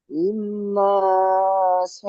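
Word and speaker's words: إِنَّ: ইন্না না টান হবে না।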